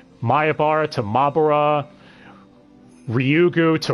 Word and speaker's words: Ryugu: firstly the mispronunciations i already mentioned oishii constantly mispronouncing watanagashi as wataganashi watadanashi mayabara tamabra ryugu to rugu it's a bit of a mess from that